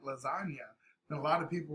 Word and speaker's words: lasagna: move in silence like lasagna and a lot of people were like huh it's like yo because you don't hear the g right it's a silent g and i always tell